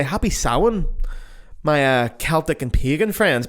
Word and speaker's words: Samhain: But it comes from the ancient Celtic tradition of Samhain. Samhain's not spelled like you think it is, unless you're Irish, in which case you know, but Samhain's spelled Samhain.